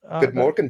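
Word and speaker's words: God morgon: yeah, God Morgan Beatles. Is that? Good Morgan Beatles. Yes.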